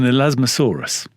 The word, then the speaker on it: Elasmosaurus: So one of the things that Cope discovered was an Elasmosaurus. Oh, very good. Well pronounced.